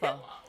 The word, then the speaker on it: Ukpo: It's not a hard K. Right. It's just Upo.